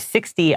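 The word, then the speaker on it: sixty: but 60 all right 60 I know it is spelled s iix t y but anywhere that's like like that number it has a t but we usually pronounce it more like a d all right so a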